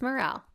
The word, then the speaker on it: Morrell: Am I pronouncing that correctly? Is it Morrell? It's Morrell.